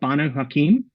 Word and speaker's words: Banu Hakim: So it's the Banu Hakim and Salubri.